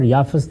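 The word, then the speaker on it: یافث: یافت اور یافس دونوں تلفظ ہیں، اسی طرح سم اور سام دونوں تلفظ ہیں.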